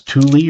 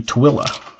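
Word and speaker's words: Tooele: Most people think it's tuli or til tuli. It's actually twilla.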